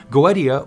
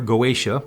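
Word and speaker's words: Goetia: Goa to be specific goia or goaa both pronunciations are fine for those of you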